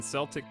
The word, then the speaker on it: Celtic: got super scroll like Celtic and Celtic the latter is correct wow so it's been Celtic this entire time like the like the basketball team Boston Celtics is the correct pronunciation and there you have